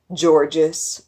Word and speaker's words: Georges: The kids in 7th grade aren't the nicest, calling him Georges or Gorgeous because of the silent S that's at the end of his name.